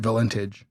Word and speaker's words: Valentich: And her name was spelled exactly like this, and she pronounced it Valentich.